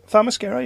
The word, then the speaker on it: Themyscira: We get introduced to Pissy Cyborg, and then we go to Themyscira. Have I pronounced that right? Themyscira, yeah.